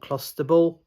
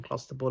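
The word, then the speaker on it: clostebol: uh a substance called clusterable which is uh excuse me for my pronunciation clusterable I think is is how you pronounce it but it's a type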